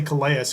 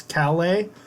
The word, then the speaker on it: Calais: and Raymond Cal a I want to say coleus cuz it's spelled c8 a is but it's Calais he's a senior and